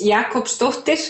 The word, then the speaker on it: Jakobsdóttir: your last name means and how you would pronounce it well my last name is Jakob stuffed it and it means daughter of Jakob because in